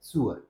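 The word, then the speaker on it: sewer: के आसपास नाले या सीवर होते हैं हिंदी में सीवर और या नाला बोल देते हैं उसका इंग्लिश में प्रोनंसिएशन है सुअर क्या है सुअर ओके अब आगे और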